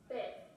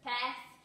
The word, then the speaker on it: pez: And your fish, now remember that sound at the end is different. Un pez. Un pez.